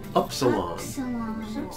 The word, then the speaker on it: upsilon: And its name is upsilon. Upsilon. Like in the word put. The next one, Phi, corresponds to our letter F.